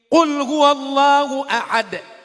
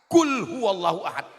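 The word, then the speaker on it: قل هو الله أحد: Qul huwallahu ahad. Pakai qaf. Qul huwallahu ahad. Katakan Allah itu esa. Tapi kalau tidak betul hurufnya, dibacanya pakai kaf. Qul huwallahu ahad.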